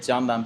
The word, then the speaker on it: Candan: It's pronounced as Candan, but too many people call me as Candan. That's also okay.